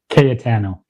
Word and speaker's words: Cayetano: Katano. Kano. Okay. I was like, is it Catano?